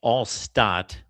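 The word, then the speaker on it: Alcott: Well, first of all, his last name was pronounced allott.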